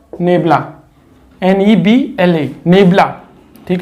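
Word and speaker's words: ∇: तो ऊपर वाले का नाम तो क्या हो जाता है, डेल्टा, और इसका प्रोनाउंसिएशन होता है नेबुला, NEBLA, नेबुला, ठीक है ना।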